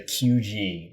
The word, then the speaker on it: QG: and went to the QG, which I was saying it wrong last time. I said GQ. It's called the QG, and it is a 6th-floor man club.